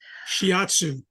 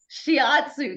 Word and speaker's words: shiatsu: and listened to it to say it right shiatsu shiatsu thank you thank you thank you it was